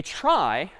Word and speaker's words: trie: one's called a try short for retrieval even though it's pronounced differently a try is the